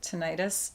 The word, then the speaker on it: tinnitus: He's getting tinnitus. Some people pronounce it tinnitus.